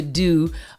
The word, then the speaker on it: Doux: big vibes of the Do, THEDOUX, pronounced Do, DOO.